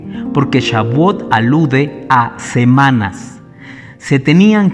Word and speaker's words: Shavuot: Shavuot.